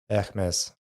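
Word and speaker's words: Hermès: Hermes. Hermes. So the H is silent. And then you Hermes. got to roll the R.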